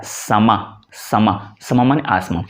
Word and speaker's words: समा: लेकिन जो अरबी का शब्द है समा, दोनों ये स्पेलिंग का थोड़ा सा फर्क है, समा समा, यानी लास्ट अ का थोड़ा सा उच्चारण आता है, लेकिन हिंदी में हम उसको समा कह देते हैं, उसमें कोई प्रॉब्लम नहीं है।